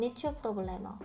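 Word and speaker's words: Nicio problemă: 니치오 프로블레머 니치오 프로블레머 여기 보면 이오 있죠? 이오도 빨리 발음하면 사실 요로 발음될 수 있습니다. 그래서 여기는 제가 지금 니치오라고 타이핑을 해놨지만 여러분 발음하실 때는 요에 가깝게 발음해 주시면 되겠습니다.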